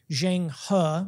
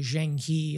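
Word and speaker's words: Zheng He: admiral who in 1405 his name is zhang huh if you want to give it the mandarin pronunciation generally we anglicize it to jing he i'll stay with that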